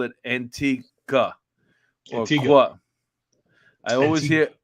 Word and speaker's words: Antigua: You You do not say pronounce the Antigua. U. They told you that when you went there. Isn't that what they All, did? all the people on the island said it's pronounced Antigua.